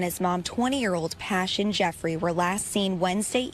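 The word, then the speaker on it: Pashun: sad and I pronounced the mother's name is pashan but it's passion it's spelled p-a-s-h-u-n it looks like pashan but nevertheless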